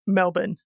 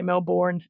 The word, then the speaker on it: Melbourne: australia at any point it is melbourne but yeah americans say melbourne and it annoys us all all right cool thank